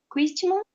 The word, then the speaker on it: Christmas: holiday of the year in Europe are Christmas, Christmas. Christmas, and Easter. Easter. Easter. No Christmas, o T é mudo.